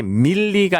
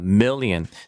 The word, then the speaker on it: million: 이게 밀리가 아니라 million.